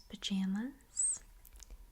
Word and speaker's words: pajamas: This one is P A J A M A S. Okay. How would you pronounce that one? Very good. Now, I would say this as pajamas.